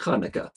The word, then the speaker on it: Chanukah: I think there's like 22 different ways to spell this, but it's pronounced Chanukah. And you got that thing going on, right? In Hebrew.